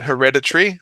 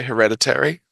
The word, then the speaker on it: hereditary: Some people say hereditary. Mm. Um, because it's not that much of an everyday word. I think it has a few different pronunciations. Uh, I think that for this kind of word, the schwa is just more common for Australian pronunciation.